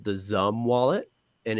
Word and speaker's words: XUMM: So for XRP in particular, the one that I recommend for people is called the Zum wallet, and it's spelled One.